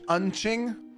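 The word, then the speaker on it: うんち: Did you see my comment about my client Unching? Unchi, pronounced unchi, means poop in Japanese.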